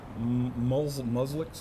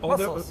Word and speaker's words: mussels: And they get, you know, muslix. How do you say that? Muslix? Musks. Yeah, the little shelly things. Mussels.